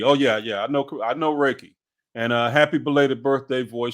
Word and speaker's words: Reiki: Pronounced Reiki. Oh yeah, yeah. I know Reiki.